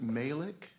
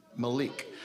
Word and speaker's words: Malik: is written by uh is it malic or Malik Malik shash Malik sorry I didn't mean to say your name wrong Malik thank you foreign